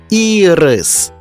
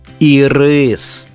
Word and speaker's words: ірис: його на обід колеса А це квітка ірис але якщо перенести наголос на другий склад отримаємо смачну цукерку ірис він називається атлас але